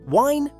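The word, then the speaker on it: Wein: Second, the combination E I sounds like I. Wine, wine, rhymes with mine.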